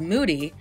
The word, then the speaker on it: Mudi: moody known to be highly alert and active the mudi breed or as commonly pronounced as moody is a well sought